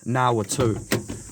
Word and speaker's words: Ngā Whātu: Locals say Ngā Watu, but the proper Māori pronunciation of this place is Ngā Whātu, and it was up there.